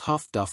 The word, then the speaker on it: HF/DF: By 1943, the Allies had become masters of a technology called highfrequency direction finding, HF/DF, pronounced huffed by sailors.